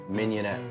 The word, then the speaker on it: mignonette: the words mignonette underneath that is the proper pronunciation and it worked mignonette like I keep this card handy so I